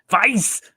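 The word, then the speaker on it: Weiß: Weiss!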